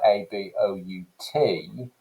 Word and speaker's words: about: rp so you take a word like a b o u t we tend to say about so that first vowel listen to uh that's the schwa sound well linguists think that